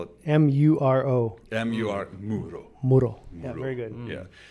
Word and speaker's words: Muro: How do you spell it? M-U-R-O. M-U-R Muro.